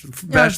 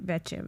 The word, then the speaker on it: Vesce: was Victoria Fresh, V-E-S-H, Vesh, like V-E-S-C-E. V-E-S-C-E, but pronounced Vesh, like fresh. That's the country way to say it. I mean, in Italy, you say Vecce, but I thought it was Vecce.